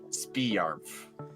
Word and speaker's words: Sparmf: But I intentionally made it to sound Bring really, yourself really back pronounced slowly. like Spiarmf.